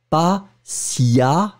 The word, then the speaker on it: patiemment: ça c'est très important, vous allez le prononcer le E comme un A. Et ça c'est fondamental, d'accord? Donc le E va être prononcé comme un A. Donc vous allez prononcer cet adverbe patiemment.